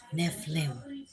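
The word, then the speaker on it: Nephilim: love everybody lenita Bryant neim nephlim pronounced nef liim okay so uh anyways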